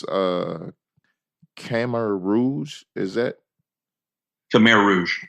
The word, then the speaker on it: Khmer Rouge: Tell me a little bit about that and pronounce Khmer Rouge. Is that Khmer Rouge? Khmer Rouge.